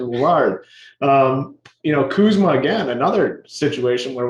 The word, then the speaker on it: Lillard: That's what got me caught up because I was deciding if I was going with Lillard or the proper pronunciation, Lillard.